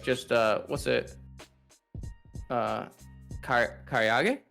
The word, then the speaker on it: karaage: Karaage? Karaage. Did I say it right? Karaage, yeah.